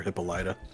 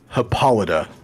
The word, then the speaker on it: Hippolyta: Because I'm a Ted Mosby, I had to find out what was the right way to say it, and it's Hippolyta. Hippolyta, not Hippolyta. Which I really want it to be now. That sounds way better, but it's Hippolyta.